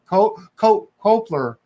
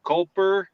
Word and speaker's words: Culper: Culper. It's so weird to put the L before the P.